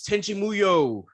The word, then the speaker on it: Tenchi Muyo: pronounced? Oh yes, Tenchi Muyo.